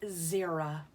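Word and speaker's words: Xera: with it starts with it sounds like is it start with the Z but it really starts with an X see this is how you spell her name X e ra but you pronounce it Zira okay let's see what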